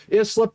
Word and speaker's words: Islip: Islip is pronounced slip.